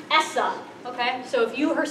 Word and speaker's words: ESSA: act and it's pronounced Essa okay so if you heard someone talking about Essa or if you see this in your cards you should just say it you say it as a word so anyone in education